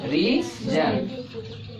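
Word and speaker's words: reason: और पढ़ो, इसको पढ़ो ए, इसको क्या पढ़ेंगे? रीजन। ये नहीं ना आ रहा है, ये क्या है? साइलेंट है।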